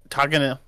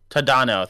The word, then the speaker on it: Tadano: Najimi is Tagana. Someone pronounces like Tadano. Tadano.